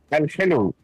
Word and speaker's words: Alhelou: So how would I pronounce it properly? Tell me. Alhelou.